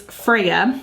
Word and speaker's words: Freja: so okay so again the name is Freya I'm pretty sure that's how you um that's the pronunciation and it's Scandinavian for